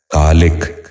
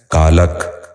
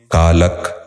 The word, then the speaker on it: کالک: سبق شروع کرتے ہیں۔ پہلا لفظ ہے کالک۔ یہ غلط تلفظ ہے، درست تلفظ ہے کالک۔ دوبارہ سنیے، کالک۔ بچوں آپ بھی غور سے سنیے، کالک۔ دوسرا لفظ ہے کتان۔